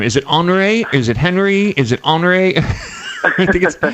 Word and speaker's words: Henri: of the name is it hre is it Henry is it hre it's hre right it's on you think of it as enri it rhymes with en we so yeah sh okay